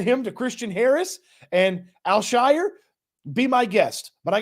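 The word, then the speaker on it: Al-Shaair: name right I got I work on it alshire excuse me aiz alshire it's interesting to me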